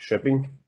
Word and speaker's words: Linköping: Ja, hallo auch von meiner Seite, ich bin der Florian, ich bin 25 und studiere in Schweden in Linköping. Also die schwedische Aussprache ist Schöping, das KÖ Entschuldige ist mich.